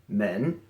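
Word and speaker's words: 门: number 19 this is the character for door pronounced men now this is already really simple and probably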